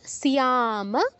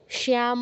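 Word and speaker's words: স্যাম: সোয়া সোজনং হিথম হত সুখিনাস বিসর্গ জায়গায় দন্তস হসন্ত সিয়াম মাধব সুখী সিয়াম মাধব শ্যাম বলবেন না শ্যাম বলবেন না সিয়াম সিয়াম পুরোটা বলছি আবার তাসমান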